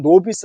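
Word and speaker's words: novice: 출신이죠 그리고 정치 신인 이에요 자 노바 있었던 노비스 라고 발음 하는데요 2탄 않은 요 4 찍을 나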